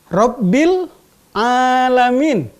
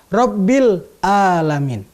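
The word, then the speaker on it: رب العالمين: huruf-huruf Al-Quran, sebagai contoh, Rabbil Alamin, dengan menggunakan huruf Ain. Ada orang yang membacanya dengan Rabbil Alamin. Dari sisi makna, dari sisi arti, Rabbil Alamin artinya Tuhan semesta alam. Tetapi ketika orang membaca Rabbil Alamin, Tuhan rajanya penyakit.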